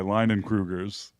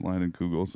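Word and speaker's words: Leinenkugel's: It's made by Leinenkrugers. That's a joke. It's a joke. Proud of it. I decided I've been posting pictures of my children on Leinenkrugers. on the Leinenkrugers. It gets people mispronounced Leinenkugels.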